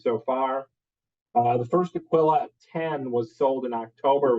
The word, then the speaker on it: Aquila: the history of the Aquilla and it is pronounced Aquilla uh it's not Aquia or how else do we hear it oh uh ailia ailia yeah I'll kill you yeah so that's my favorite one it's Aquilla um so this is the brief timeline of